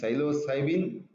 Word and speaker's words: Psilocybin: And psilocybe mexicana is a mushroom whose principle is psilocybin. Silo, P is silent here.